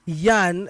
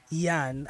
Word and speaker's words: Jan: show his name is Yan and it's pronounced as j-a-n it's it's it's j-a-n pronounced as Yan I like that yeah